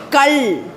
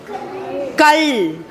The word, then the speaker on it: கல்: இப்போ இவர் வச்சிருக்கிறாருல இல்ல, இதை எப்படி சொல்லணும்னா கல். கல். மகள். கல்.